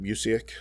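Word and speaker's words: Busiek: by mark russell and one by uh kurt museek yeah is that how you say it yes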